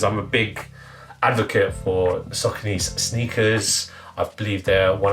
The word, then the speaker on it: Saucony: pronounce the name, and it was literally like sock, like the sock you wear on obviously, and knee. So altogether it's SAUCONY, and that is how you pronounce it.